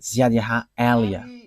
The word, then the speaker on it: Ziad Elia: that is my name, so I pronounce it as my father pronounced it, Ziad Elia.